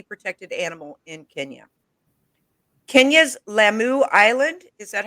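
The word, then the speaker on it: Lamu: to hunt any protected animal in kenya kenya's lammu island is that how you say it yes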